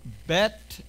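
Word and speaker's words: בּ: If it has a dagesh, if it has a belly button, it's a bet. But if the same symbol does not have a belly button, it's a vet sound.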